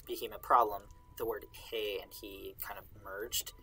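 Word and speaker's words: hē: it's just hi he now the pronoun he like he and him that is hey in old things just h-e when it's spelled like modern english he um but he h-i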